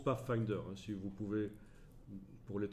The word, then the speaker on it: Pathfinder: de fenêtres pas facteur ça se prononce pas finder si vous pouvez pour